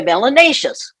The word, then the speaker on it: melanaceous: If you have more melanin in your skin, you're melanaceous, which rhymes with gracious and spacious and efficacious.